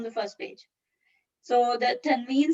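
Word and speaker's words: تنوين: This is n sound is called tanween.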